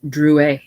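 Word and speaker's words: Drouet: leftand corner Chaz H Dru that's me he said putting the card in her hand and touching his name it's pronounced Dru our family was French on my father's side she looked at it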